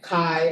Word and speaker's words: chi: So ki square is when we square it and it it's pronounced like kai like by like bye-bye.